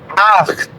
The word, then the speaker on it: acht: Aquí tenemos un ejemplo en donde la CH, no la CH y la pizza, la CH suena como G. A veces la CH en alemán suena como G. Acht.